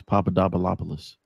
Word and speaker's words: Papadopoulos: Her last name was Papadopoulos. And I had to ask her, like, how do you pronounce that?